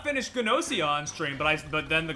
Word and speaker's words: Gnosia: That is true, because I did not finish Gnosia on stream, but then the Gnosia anime got announced, and it was like, huh?